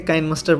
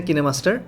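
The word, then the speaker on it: KineMaster: আপনারা কেউ কিন্তু এটাকে কাইনমাস্টার বলেন, কিন্তু এটার সঠিক প্রোনাউন্সিয়েশন হচ্ছে কিনেমাস্টার।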